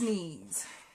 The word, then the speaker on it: knees: you are the bee's knees and remember knees has a silent k in it so it's k-n-e-e-s i